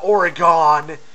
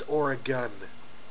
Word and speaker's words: Oregon: And no, Leah, it's not Oregon. It's Oregon or Oregonian.